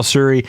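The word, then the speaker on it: Tsuri: Acer pal Acer palum Siri Nishi and that's tsur r i that's how Siri the t is kind of Silent whenever you pronounce that hard to say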